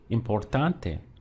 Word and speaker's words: importante: coming just before last even on say importante so here we have a word with four syllables we have M poor Don day so our stress comes on the one before last it's gonna be over